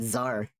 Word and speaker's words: czar: Czar. I didn't think about czar. Word starting with a C silent. Yeah, czar.